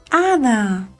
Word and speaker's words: hada: Recuerda que la H no suena. Hada. Vamos a deletrear hada. A. Da. Hada.